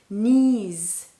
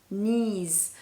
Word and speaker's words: knees: When you start a word with the letter K, and the second letter is an N, K-N, then the first K is silent. For example, knife, knife, knees, knees, knowledge, knowledge.